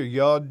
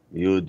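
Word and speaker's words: יוד: Actually, with Rizel, it's Yud or Yod. You could say it however you want to. They're both kind of correct, really. Yud, Yod.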